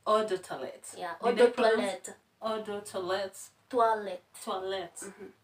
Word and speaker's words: eau de toilette: That's eau de toilette. Eau de toilette. Yeah, eau de toilette. Mm-hmm. Yeah, she helps me pronounce those names.